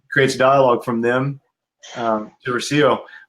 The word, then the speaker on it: Rocio: genuine, but it creates dialogue from them to Rocio. Like, hey, is that how you pronounce her name? Yep. Okay. It is. Rocio.